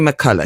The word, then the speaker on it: McCullough: well Virginia McCulla that's well they said it's pronounced Mulla yeah so Virginia McCulla she's 36 from chel 36 yeah chelsford Essex